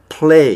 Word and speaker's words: play: 근데 이제 이 pray하고 play에서 그 발음의 구분은 이 기도하다의 pray는 이거를 그냥 pray 이렇게 이제 발음하시면 되고 놀다의 play는 pu가 아니라 pull 이렇게 play 이렇게 발음하시면은 요거는 이제 play 놀다가 되고 그냥 pray 이렇게 하면 이제 기도하다의 뜻이 되겠습니다.